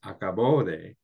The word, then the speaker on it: acabó: It's like, if you say acabo de, versus acabó de, right? One is present tense, the other is past tense. So it matters which syllable that you emphasize.